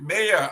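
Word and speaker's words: Mbayoh: The B is silent, so it's Mayor.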